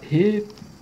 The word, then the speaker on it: reflexão: A palavra reflexão. Perceba, o X ele também tem um som de KS aqui.